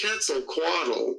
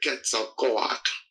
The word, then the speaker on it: Quetzalcoatl: And to Quetzalcoatl, there's another dimension, or I should say Quetzalcoatl. That's the proper way to say it.